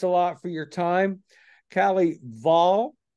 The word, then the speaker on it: Kelley Vahl: Kalley Vahl, right?